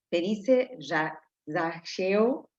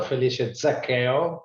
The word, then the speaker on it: Felice Zaccheo: Felice Zaccheo, poco como saqueo en español sería, pero muy buenos días, muy buenas tardes a todos y a todas.